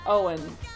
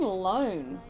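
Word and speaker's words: Ioan: I think it's pronounced Owen, but feel free to yell at me in chat if that's not true. That's what I've always said. Wait, they're saying loan. No, it's not loan. I think Owen Grufford pronounces it Owen.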